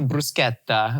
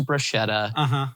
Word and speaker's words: bruschetta: You know, bruschetta as opposed to bruschetta.